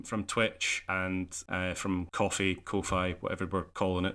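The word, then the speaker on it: Ko-fi: themselves actually pronounce it coof fee because it rhymes with no fee yeah I've heard that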